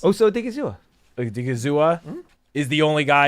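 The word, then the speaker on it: Osa Odighizuwa: I mean, Osa, how do you pronounce? Osa Odigizua.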